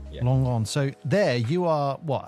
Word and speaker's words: Langon: I don't want to mispronounce it. Yourself of southeast of Bordeaux, Langon. Yeah. Langon.